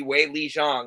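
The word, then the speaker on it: Zhang Weili: Jang way or C her last name is way Lee so it would be way Le Jang if you're saying it right they say their surnames first over in China okay it's way Le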